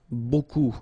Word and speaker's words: beaucoup: Beaucoup, like that. Remember, you don't pronounce the final P, okay? And then you get this combination of vowels, E, A, U, and you get the sound O.